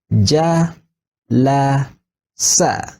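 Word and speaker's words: جلس: Then this would be pronounced Ja, La, Sa. Right? Then we would say Jalasa. This is a complete word which means he sat.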